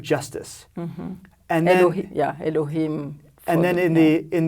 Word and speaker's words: Elohim: the God of justice mm-hmm and they yeah Elohim and then in the in the second chapter